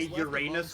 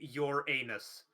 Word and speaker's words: Uranus: I got to say impressed that they managed to say Uranus without saying you're anus they managed to find the one way to pronounce it they managed to find the one way to pronounce it without it being without making everyone laugh my God they're too